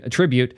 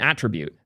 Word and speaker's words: attribute: really needs to learn the difference between attribute and attribute they are not pronounced the same it bothers me so much more than it should just so you guys know I'm going to be going out of my way to use the wrong one every single time going forward so so to be sure the correct one is attribute is the verb and attributes the noun right because if so we're